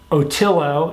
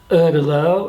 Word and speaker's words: Ötillö: training in preparation for the upcoming Otillo, as we say in the United States, Ötillö, or Ötillö, I think is how you pronounce it in Swedish.